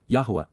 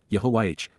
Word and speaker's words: Yahowah: Yahweh is Yahwa, God's one and only name pronounced Yahwh, based upon Haya, to exist, seed of honor, Kais,